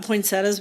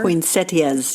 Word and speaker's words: poinsettia: about we've talked about poinsettas before poinsettias yes yes but now they're saying you really pronounce it poinsetta and I always said poinsettia too look I don't care